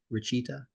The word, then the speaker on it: Rachita: And also, am I pronouncing your name right, Rachita?